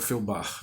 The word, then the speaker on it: Feuerbach: Não é um livro, mas é um texto fundamental, as teses contra Feuerbach, né? Que pronuncia-se mais ou menos como se foi ao bar, né?